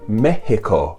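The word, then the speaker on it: México: javier was born but in spanish it's called mexico they use that ha sound for the x they didn't spell it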